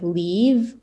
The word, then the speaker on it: leave: So leave, leaf. Leaf is like from a tree. They're two completely different sounds. Like you pronounce them completely differently because of the last letter. So you have like leave and leaf. So it's a v sound, like more aggressive, so v. But this is like a soft sound, so like leaf. Okay, let me try to translate it first.